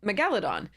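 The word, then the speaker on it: Megalodon: it's based on uh megalos is the the root um so um and so I called it Megaladon the second reason I call it that is um is that almost all other dinosaursextinct big crazy monsters have the emphasis placed on that syllable Tyrannosaurus Rex right Triceratops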